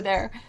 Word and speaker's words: Ye: actually pronounced y uh the Y used to be a th sound so that was that's